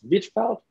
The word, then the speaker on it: Hvitfeldt: i've explained people and my last name is whitfeld and if it's silent age silent d can you spell phonetically